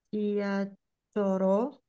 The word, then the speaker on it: 지하철로: 지하철로 갔어요. Dibacanya L ya.